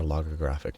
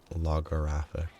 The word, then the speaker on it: logographic: l in Brackets oh logor graphic or logographic not lographic like logo sort of what if Bita that has